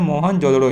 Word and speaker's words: मोहनजोदड़ो: जिले में स्थित है मोहन जोदड़ो का सही उच्चारण है मोहन जोड़ो इसकी खोज रखलदास बनर्जी